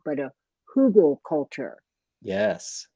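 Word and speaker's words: Hügelkultur: I've recently heard of a, correct me how I'm if I'm pronouncing it wrong, but a Hugel culture. Yes, Hugel culture.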